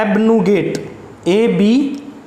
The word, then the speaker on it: abnegate: Seven number दे रखा है एबनुगेट, ABNEGATE, एबनुगेट। इसको बोलेंगे कैसे? इसका प्रोनाउंसिएशन देखो क्या दे रखा है, ये सभी